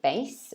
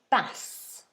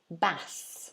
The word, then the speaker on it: bass: we don't pronounce it bass we pronounce it bass bass so you see the symbol there in the middle that a e is like an open ah so this is a